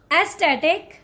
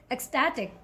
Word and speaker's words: ecstatic: zip elusive this one how do you call it aesthetic no the correct way to say this word is ecstatic ecstatic okay ecstatic where